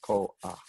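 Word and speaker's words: כוח: hear two vowels and contemporary speakers of Hebrew really do hear it as two syllables, koach. I'm sorry, without the glottal stop in the middle, right? There's no aleph there, koach. One vowel flows right into the other.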